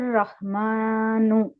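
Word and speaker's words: رحمن: read பண்ணுங்க ஹுவர் ஹுவர் ரஹ்மானு ரா வந்து heavy heavy பண்ணி விடுங்க ஹுவர் ஹுவர் ரஹ்மானு மானு மீமை ஹெவி ஆக்க கூடாது அது வந்து லைட் லெட்டர் தான் ரஹ்மானு ரஹ்மானு குவர் ரஹ்மான்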